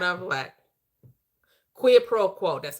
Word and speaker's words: quid pro quo: Quid pro quo.